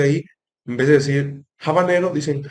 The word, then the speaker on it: habanero: Por ejemplo, en inglés, el término habanero peppers, es a veces pronunciado como habanero, pero esto pues, no es así.